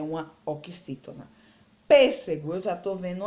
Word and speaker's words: pêssego: Então, a gente pode pronunciar as palavras que o rapaz está vendendo aqui, ó. Pêssego, laranja e caqui.